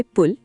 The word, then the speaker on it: पूल: उच्चारण में थोड़ा अंतर है। हिंदी में पुल और मराठी में पूल मीनिंग ल पर थोड़ा जोर। पुल। एक बार फिर कोशिश कीजिए देवेंद्र पूल ल को थोड़ा लंबा खींचना है।